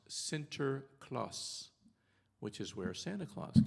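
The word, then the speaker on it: Sinterklaas: and needy and in Dutch his name is pronounced Center Claus which is where Santa Claus comes from so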